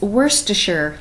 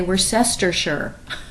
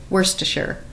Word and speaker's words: Worcestershire: It's Worcestershire, like Worcestershire sauce. Don't think you have to say Worcestershire or any other convoluted combination. Just say Worcestershire.